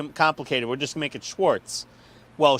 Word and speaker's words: Schwarz: here's the thing though the Z is pronounced like it's a TZ which is I know